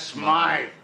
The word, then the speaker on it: Smythe: Smith is closing up his shop. That's Smythe.